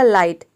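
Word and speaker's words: light: हो जाएगा आई और किसी भी वर्ड में जी एस टी अगर एक साथ आता है तो इसमें जो जीएच है वह साइलेंट रहता है यानी कि जीएच को हम प्रोनाउंस नहीं करते हैं केवल टी को प्रोनाउंस करते हैं तो देखिए यहां पे टी का ट हो जाएगा पूरा हो जाएगा लाइट लाइट का मतलब होता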